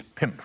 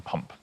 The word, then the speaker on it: pump: It's "pimp" really, rather than "pump". So "pimp" is really how one pronounces it.